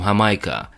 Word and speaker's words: Jamaica: Yamaye, called their home Hamaica, and the Spanish who took over in the 16th century used that name but changed the H with a J. J is pronounced as an H in Spanish.